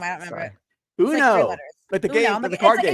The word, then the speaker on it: Uno: Is it spelled UNO in the book? Yeah. Yeah. Uno. Like the card game.